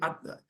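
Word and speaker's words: עתה: The ayin is supposed to be ata, something like that. More guttural. Much more guttural.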